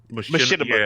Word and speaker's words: Machinima: Machinima, thank you.